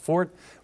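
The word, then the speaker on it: Pfort: Albany named Joseph Fort that's spelled with the p at the beginning little unusual spelling pronounced Fort we know this because a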